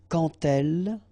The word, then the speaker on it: quand: So like that, quand elle. All right, same rule here. Remember, when you will have this D, you will phonetically pronounce it like T.